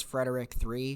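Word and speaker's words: Fred3rick: Okay, next we have Fred 3 Rick, but I think it's Frederick 3. I'm sorry, wait, what? It's spelled Fred 3 Rick, like they switched out the E with a 3.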